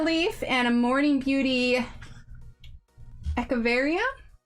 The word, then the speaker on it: Echeveria: All right, then we have a Monstera leaf and a Morning Beauty Echeveria, I think is how it's pronounced. I think the CH is like ek, not etch.